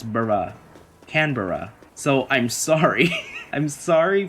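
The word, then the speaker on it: Canberra: Anyway, what I was going to say was that I think I've been pronouncing this little koala's name wrong. I used to call her Canber.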